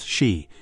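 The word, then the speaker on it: 四: Number four, pronounced she c sounds exactly like the word for death c.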